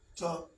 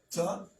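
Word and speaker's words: טוב: So here, this is Ta'ob. Okay? See that, Deaconess? Ta'ob. Tet. Wav has the O or U sound.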